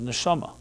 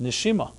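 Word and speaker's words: נשמה: But soul in Hebrew, the word for soul in Hebrew, is neshama. Neshama has another way to be pronounced, neshima.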